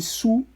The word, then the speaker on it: Sault: Esse Sault se escreve Sault, porque é francês, e aí é chamado de Sault. Muitas vezes o time é abreviado só para Sault Greyhounds, com S-O-O, como os ingleses, como os anglofônicos pronunciam o Sault Ste.